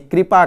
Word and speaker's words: कृपा: बाद आएगा री, और यहाँ पर क्री यानी कि क के साथ री जुड़ा हुआ है, इसलिए हम इसका उच्चारण भी कृपा करते हैं, है ना।